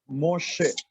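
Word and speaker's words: משה: Because we see he in the ending, so that is why meme, sheen. We read meme, sheen, and sehol. So we say Moshe, not read hey.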